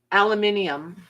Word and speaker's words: aluminium: Debbie said they pronounce aluminum funny too. Yeah. Aluminium.